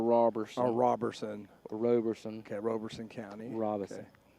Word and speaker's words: Robeson: socks i wonder how i wonder how many times robeson county gets pronounced robertson county or mispronounced like that how